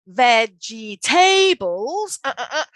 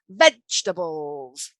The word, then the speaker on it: vegetables: students all right so we don't say veggie tables it's vegetables vegetables okay so not veggie tables vegetables so for me the